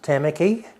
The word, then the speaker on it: Tamaki: Well, to Auckland, HMNZS Tamaki. Tamaki. Could you Tamaki. spell it?